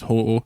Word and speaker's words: Ho-Oh: in every territory is Ho-Oh. So Ho-Oh's a shite name because you can't pronounce it properly.